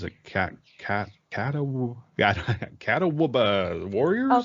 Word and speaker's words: Catawba: And apparently it was a brutal battle between Cherokee and I don't know how to pronounce it, Catawba warriors? Oh, Catawba.